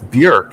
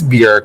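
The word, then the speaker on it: Björk: did his round on Bjork oh yeah do you feel like he would have done well on that um well only because she's it's Burke isn't it it is Bjork which I learned Gaston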